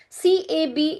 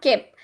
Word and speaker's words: cab: You will say kep. Actually, it is not kep. It is cab. Okay, so when I say cab, k sound is aspirated in English.